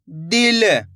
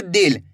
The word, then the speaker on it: दिल: ज्यादा खींच के नहीं पढ़ना। दिल। अगर आप खींच के पढ़ दोगे तो इस तरीके से बड़ी ई की मात्रा का उच्चारण हो जाएगा। यहां पे बड़ी ई की मात्रा लगी हुई है तो खींच के पढ़ा जाएगा। दिल। यहां पे छोटी इ की मात्रा है तो कम खींच के पढ़ेंगे दिल।